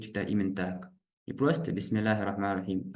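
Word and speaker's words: بسم الله الرحمن الرحيم: Вот здесь Бисмиллахир-рахманир-рахим. Мы здесь васлю не читаем. Мы сказали, в середине двух слов не читается.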